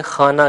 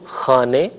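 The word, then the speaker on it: خانه: زیر کی طرف ہے۔ ہم اردو بولتے ہوئے اسے خانہ کہتے ہیں، یا اگر لفظ نامہ ہو تو اسے خبر نامہ وغیرہ نامہ کہہ کر تلفظ کرتے ہیں، جبکہ فارسی میں زیر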